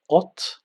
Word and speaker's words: от: So by knowing these two letters, we can combine and create the word ot, ot, ot, which means from.